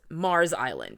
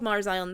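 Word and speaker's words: Meaghers Island: pointed toward an island called Clancy's uh called Mars Island it's spelled meager Island m e a g h e r s I've seen uh that it's pronounced Mars island or that it's actually called Mars Island the fact is it's Mars Island and it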